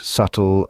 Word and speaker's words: subtle: from start to finish now let's talk about the silent bees yes they exist be can sometimes be the Silent Partner contributing to the word without making a sound you'll find silent bees in words like doubt subtle and thumb it's like a secret